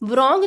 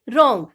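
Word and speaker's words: wrong: देबू को साइलेंट रखेंगे इसको हम vrong नहीं बोलेंगे देबू साइलेंट होगा इसको हम बोलेंगे रंग नव यह कुछ ऐसी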